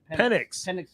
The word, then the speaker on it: Penix: Is it Phoenix or Penix? What's the name? How do you even say his name? Penix.